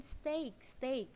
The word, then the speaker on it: steak: Nah, rubah sekarang ya, pesen steak pengucapannya, bukan stick ya, nanti kamu dikasih tongkat. Steak ya, bukan stick.